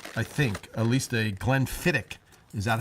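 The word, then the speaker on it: Glenfiddich: I think at least a Glenfidic. Is that how you say it, Donnell? Clen Fidic. It's almost like William Emmerick with a hard ch.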